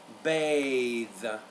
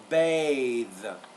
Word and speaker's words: bathe: th th breath freezer so with the second sound there it's more a it's a long vowel bathe isn't that interesting you even have to change the pronunciation of the word when you go from a noun to a verb so it's bath bathe so the first word